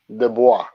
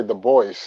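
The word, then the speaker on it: Du Bois: pronunciation i love it de bois because people yeah americans like to say the boys the boys yes the boy get it together it's a french name okay people well listen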